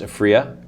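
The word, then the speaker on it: Aphria: Do you know it's actually pronounced Afria? Vic Neufeld himself corrected me on that.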